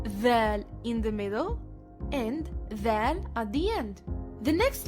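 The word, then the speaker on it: ذال: Dhal sounds like the combination TH, as in that.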